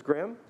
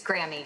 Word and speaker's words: Grammy: So, is it Ms. Graham? Yes, thank you. It's Grammy, actually.